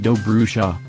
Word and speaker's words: Dobrusa: Dobrusa, pronounced Dobrusa, was once a village of 50 houses that lined 2 parallel streets at the bottom of a shallow valley.